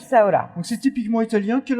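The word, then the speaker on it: bresaola: Alors, Breza Brizaola, on prononce Bzaola.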